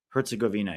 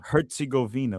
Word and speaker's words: Herzegovina: Herzegovina, yeah. Herzegovina.